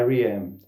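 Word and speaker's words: R.E.M.: A, aqui no Brasil a gente até costuma às vezer chamar Ram, né? Mas o nome, a pronúncia correta da banda é IRM.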